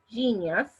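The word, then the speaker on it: Geneyus: It's called Kincense Genius. Geneus is how it's spelled. Genius. And Genius has sacred frankincense, oh my gosh, there's a ton of oils in this.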